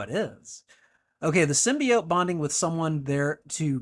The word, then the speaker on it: symbiote: pronunciation you don't like symbiote cuz I've heard other people pronounce it symbiot and I mean like I don't care the OT to me says oat symbiote but you know uh